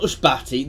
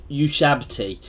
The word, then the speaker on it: Ushabti: They're not Ushbati, the Ushabti.